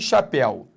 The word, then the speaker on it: chapéu: por exemplo aqui chapéu quando eu falo chapéu concentre primeiro ou é aberto se não seria chapéu segundo o El está na sílaba tônica porque senão seria Chapéu Não é chapéu é chapéu então além de ele se